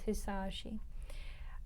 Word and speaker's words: Hisaishi: I was saying his name wrong in the other videos. His name is Hisaishi.